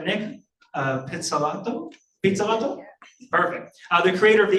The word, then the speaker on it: Pizzolatto: Francois Camoin, and Nick, I hope I can pronounce this right, Nick Pizzolatto?